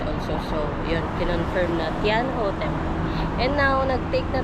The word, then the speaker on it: Thean Hou: So, yun pala yung tamang pronunciation niya. Tianho Temple.